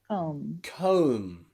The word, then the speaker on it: comb: after the m sound at the end you can see that that b is silent tomb comb bomb now you probably can see a pattern already omb that is when the b sound comes after a consonant especially a strong consonant like m it is normally always